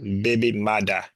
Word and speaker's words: baby mother: The term originated in Jamaican Creole as a baby mother, pronounced baby mada, with the first printed usage appearing in the Kingston newspaper, the Daily Gleaner, in 1966.